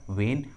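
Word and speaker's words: when: के बाद आया है, इस ट्रिक के अनुसार एच का उच्चारण नहीं किया गया है। देखिए इंग्लिश वर्ड्स में एच का आवाज़ नहीं आ रहा है, what, व्हेन, व्हाई, वेयर, because in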